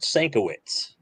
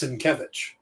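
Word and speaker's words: Sienkiewicz: he was going i i used to pronounce it sankowitz same here and then broken out phonetically and he's come out and said it's cinkevich yeah oh yeah it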